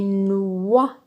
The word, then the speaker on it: noix: ni Noah des noix très bien ce mot se termine par un X mais le X ne se prononce pas donc il nous manque